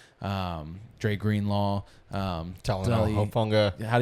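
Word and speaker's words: Talanoa Hufanga: adding Jade Baron, um, Dre Green Law, um, Talan Hoffa. How do you say it? Talenoa Hofunga, that guy.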